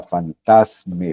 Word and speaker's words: fantasme: En francés la palabra que se utiliza es fantasma, o sea, fantasme, sin pronunciarla de final.